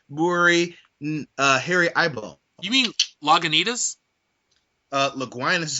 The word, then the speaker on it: Lagunitas: may not know, tell them that you're drinking Laguinas Brewery Harry Eyeball. You mean Lagunitas? Laguinas is how I pronounce it when I'm drinking, so fucking stop it.